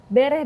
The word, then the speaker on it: bereh: Bereh data, bereh rencana, dan bereh hasil. Betul Bu, bacanya seperti itu ya? Itu maknanya apa sih Bu, semboyan ini? Nah, kalau bereh data, bereh itu artinya beres.